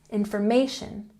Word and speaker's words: information: Information has the emphasis on the third syllable. Information, information.